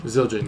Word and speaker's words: Zildjian: Is that pronounced Zildjian? Zildjian, yeah.